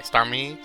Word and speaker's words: Starmie: It's definitely Starmie. That's what my pronunciations are.